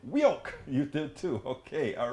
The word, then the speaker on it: WEOC: Michael Rodden says, WOC, I pronounce it Wioke.